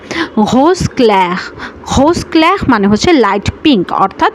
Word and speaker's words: rose clair: rose clair rose clair rose clair rose দর্শক কখনো কখনো কিন্তু আরের উচ্চারণ কখনো ঘয়ের মতো হয়, কখনো আবার হয়ের মতো হয়। এটা আসলে আপনারা মিক্সড করে উচ্চারণ করতে পারেন। কখনো এই আরের উচ্চারণটা ঘ শোনায়, কখনো আবার হও শোনায়, কখনো আবার কখনো খও শোনায়।